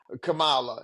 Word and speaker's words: Kamala: the Republicans when they when they mispronounce her name they do it on purpose I know they do but y'all know her name is KLA Kamala y'all know what her